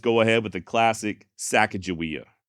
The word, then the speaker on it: Sacagawea: Sacagawea being Shoshone, and modern-day Shoshone do say her name as Sacagawea.